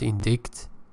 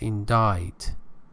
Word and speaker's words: indict: next word is indict pay attention it's not indict pronunciation the pronunciation is indict and it means to accuse as a verb